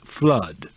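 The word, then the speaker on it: Fludd: by the name of f l u d d pronounced flood coko put the idea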